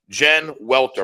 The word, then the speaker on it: Jen Welter: I got Cris Carter, but more importantly, definitely more importantly today, I have Jen Welter. Am I pronouncing that correctly? You got it.